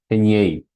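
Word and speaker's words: Henyey: Esa línea se llama línea de Gi, bueno, de Genie, Gen, nunca sabido. ¿Y cómo se dice. Heñei.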